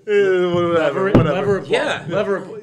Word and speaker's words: Leverett Ball: Leverett Ball.